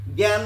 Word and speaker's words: জ্ঞান: আপনি যদি জ্ঞান বলেন তখন প্রথমে যুক্ত ব্যঞ্জন লাগাচ্ছেন, তখন হয়ে যাচ্ছে গয় চন্দ্রবিন্দু। আর যখন বলছেন অজ্ঞ তখন হয়ে যাচ্ছে গয় গ উচ্চারণ।